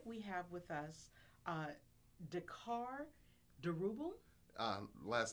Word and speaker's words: Diourbel: justices and tonight we have with us Dakar durable last name pronounced D orbble but good try thank you thank you I